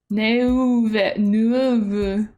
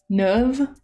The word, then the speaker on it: Neuve: Neuve. U is pronounced kind of like ugh. Just like Neuve.